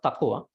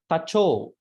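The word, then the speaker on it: taco: Tacho, not tako. Tacho.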